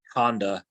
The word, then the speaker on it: Handa: at Horizon Labs V his name is Rohan Honda hopefully I pronounce the Honda part right um and uh